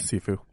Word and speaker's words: Sifu: And there is, I think it's pronounced Sifu, or is it Saifu? The Kung Fu game. Sifu.